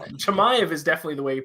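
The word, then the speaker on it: Chimaev: i don't know that's what i call it shamaive is definitely the way you pronounce it do all three of us agree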